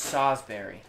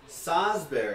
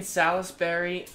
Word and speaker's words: Salisbury: the next city over it's pronounced sawsbury sasberry he played at private school in south carolina for high school the sazberries taste like raspberries i was thinking salisbury there's another set yeah